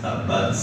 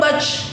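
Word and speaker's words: تبّت: dengar tabbac yaab memang ta itu punya sifat alhams gitu ya alhamsu jadi pengucapan huruf disertai dengan keluarnya air nafas tabbat tapi bukan hanya tabbat bat keluar nafas aja jadi bat turunin lidahnya keluar nafas itu bat jadi bukan bac bukan kayak bacem enggak gitu tabbat Bat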